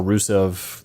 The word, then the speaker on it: Rusev: Yep, Rusev.